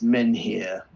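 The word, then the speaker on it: menhir: Joe says, you pronounce the H. It's men here. Oh, okay. Larry says, I've always said it, men here, so it would rhyme with fen here.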